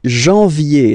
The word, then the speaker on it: janvier: But anyway, janvier. So that's the way to pronounce it. Janvier, A-N, en, okay? And then yé, yé, yé, janvier.